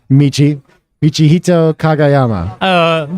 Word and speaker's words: Michihito Kagayama: Nick Blazer on commentary here with Michihito Kagayama. That's right. Did I do well? Did I even pronounce it right?